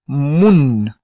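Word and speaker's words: moun: talvez traga alguma confusão note o n no final ele é pronunciar e é diferente do português por exemplo em português aqui Devíamos apenas Moon ou senão pronunciasse mos oo Wayne talvez iríamos um mas não em que o leite anos se diz mundo mundo que significa pessoa a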